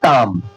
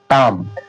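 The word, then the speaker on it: tomb: एम के बाद बी आ रहा है ना? हां। तो देखिए इसे क्या पढ़ रहे हैं? बी साइलेंट हो गया। तो इसे क्या पढ़ रहे हैं? ताम। टाम। टाम मतलब समाधि।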